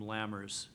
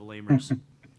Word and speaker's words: Lammers: And Jason, I'm sorry, I pronounced your name Lammers instead of Lamers.